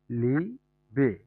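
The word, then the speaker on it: Liebe: ইংলিশে যেই লাভ ওয়ার্ডটা আছে সেটাই, এখানে হচ্ছে লিবে।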